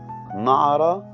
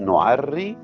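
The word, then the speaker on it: نُعَرَّى: نعرى مش نعري، ونلكم مش نلكم.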